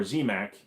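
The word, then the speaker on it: Zamak: So Zamac, or ZMAC, as it's pronounced, is made up of aluminum, copper, magnesium, iron, lead, cadmium, tin, zinc, and something else.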